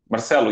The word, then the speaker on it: Marcelo: But how do you say it? Marcelo, yes. Marcelo is the correct pronunciation.